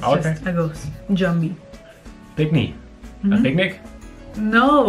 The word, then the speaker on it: jumbie: Jumbie. Good pronunciation. Jumbie.